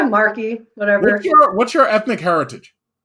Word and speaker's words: Mark: your videos uh now your last name is pronounced marquee right yeah marky whatever what's your ethnic